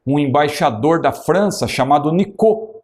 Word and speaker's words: Nicot: Tanto que havia lá em Portugal um embaixador da França chamado Nicot, não é? Se escreve Nicote, e ele até emprestou o seu nome para o termo que surgiu, nicotina, não é?